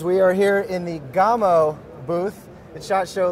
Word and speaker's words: Gamo: var Barcelona Spain and the word Gamow in Spanish means deer so that is how they pronounce it they're here in the